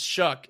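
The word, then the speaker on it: Shough: How the hell do they say his name? Shock. Shout. Tyler Shuck. Shuck. It's Shuck.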